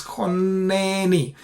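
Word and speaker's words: חָנֵּנִי: And therefore, when you split it like this, this syllable is actually closed. Chonneni. So since this is a closed syllable and it is an unaccented syllable, we treat it with a short vowel, which is Qamats Qatan, and therefore we pronounce chonneni.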